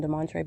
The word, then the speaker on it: Demontre: He pronounces his name Demontre, but he is a tray of Satan.